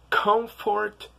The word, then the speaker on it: comfort: a little tricky because some people pronounce the T in comfort and some people don't and depending on it